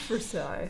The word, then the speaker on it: Versailles: French Versailles, it's Versailles. But Is it though? So Disney that's how Plus, the French pronounce it.